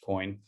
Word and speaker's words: CO2IN: I'm the community manager at Tatum, and I'm joined here today by Jan Palascak, founder and CEO at COIN, which is actually written CO2IN, but pronounced COIN.